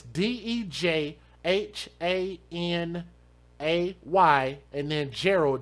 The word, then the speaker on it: Dejanay: It's a name that you wouldn't be able to pronounce properly if you didn't know that's what it said. But it's Dejhanay, and then Gerald, Jarrell.